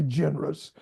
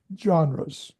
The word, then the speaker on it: genres: You don't say generous, which you would tend to want to say, but it's just one of those unusual words. Genres. So, try again. Yeah, go again. I think you did fine. Go ahead. Different different journal journals like John John like the like the name John John genres there you